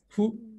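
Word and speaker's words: ふ: Porque fu no se pronuncia como una F, ni tampoco se pronuncia como una H. Es como algo intermedio, ¿vale? Es como que entre F y H.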